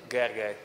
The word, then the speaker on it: Gergely: So your name would be, pronounce it correctly, sorry, I cannot do it. Gergely.